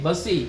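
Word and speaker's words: Bussy: an officer named bassey don't call it as a busy b you double s i the pronunciation should be busy okay the spelling and all don't go with that the pronunciation should be in the busy manner itself so an officer called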